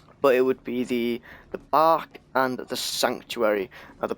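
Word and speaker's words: barque: it would be the bark and the sanctuary at the back is spelt be a r qu e and I think it's a French word and it means ship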